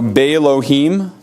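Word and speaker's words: באלהים: uh before the prefixes the initial olaf is lost in pronunciation so bailouhim lailahim kalohim so you notice the elohim loses the allah becomes quiescent becomes silent he says the initial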